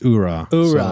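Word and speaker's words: Oorah: is the Marine Corps so it's it's it's Ura so no age okay AG is silent right right the more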